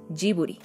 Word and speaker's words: Ghibli: para bautizar su estudio del italiano cambió su pronunciación ghibli a la transliteración japonesa jibouri el apasionado por los